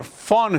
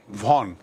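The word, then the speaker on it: von: को कैप्टन लिखा और फॉर्न स्टेबल देखिए वी ओ एन वैसे तो उच्चारण इसका वॉन लेकिन जर्मन में ये जर्मन वर्ड है जर्मन में वी ओ एन को फॉर्न बोलते हैं।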